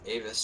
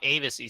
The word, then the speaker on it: AVES: I have been informed it is not ABC Sports it he's actually av sports pronounced like Dave's okay so it is